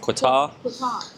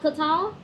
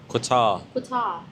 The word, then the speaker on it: Qatar: Yeah, like a qu sound. Qatar. Not Qatar. Qatar.